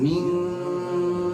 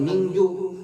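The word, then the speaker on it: مِنْ: Min bukan mingju tapi min, tahan dulu engnya.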